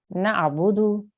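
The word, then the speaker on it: نَعْبُدُ: vaux so for example here we have naabudu okay in continuation that is how you pronounce the word however if you have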